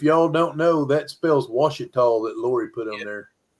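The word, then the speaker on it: Ouachita: don't look like Washita, but that spells Washita. That's how it Is is. that how you say it? That's how you say the O word. O-U-C, O-U-A-C, H-I-T-A. That's Washita.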